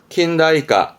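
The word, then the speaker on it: 近代化: 발음은 구타이까, 구타이까. 그렇죠. 근, 대, 화가 되겠네요. 킨다이까, 킨다이까.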